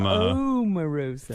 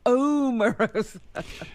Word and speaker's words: Omarosa: Omarosa from Omarosa. from she's on Celebrity Apprentice this year. She likes her name pronounced correctly.